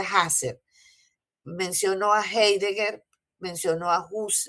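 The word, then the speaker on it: Husserl: menciono a Huser, a a Huser que se pronuncia Hasser.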